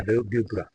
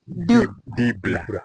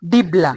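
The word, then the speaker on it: dibbler: this one is a dubra. Dubra. Yeah. Here is a dubra, and the container. Pronounce it properly. Dibler. Dibla. D-I-B-B-L-E-R. Dibla.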